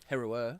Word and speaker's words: Heru'ur: How do you pronounce his name? Heru'ur.